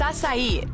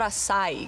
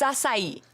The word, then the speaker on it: açaí: It's açaí, not açaí, guys. Açaí. I'm gonna have an açaí bowl. It's açaí, okay?